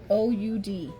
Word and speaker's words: Oud: Rude O-U-D.